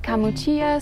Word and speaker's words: Camuccia: off at is called Camuccia Cortona. Locals pronounce that Camuccia, so you might hear it pronounced that way.